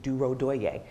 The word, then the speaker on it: Durodoye: for example my name my last name is duro doye and uh you know if you don't see